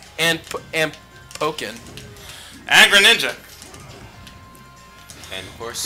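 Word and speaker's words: Pokkén: Greninja and of course is it pronounced poken I guess or pocken whatever I I I pronounce as poin yeah because like there's like two k the because 2ks then it's pocking yeah if it's 2ks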